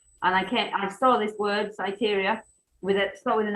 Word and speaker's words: Syteria: It's sort of say SYTERIA. SYTERIA, okay. So I reading the meditation book. I'm a bit of an old hippie now. I do a lot of meditation. And I saw this word, SYTERIA, start with an I, S-I.